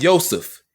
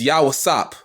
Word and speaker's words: Yosef: It's not Yosef. It's Yawasap. Stupid.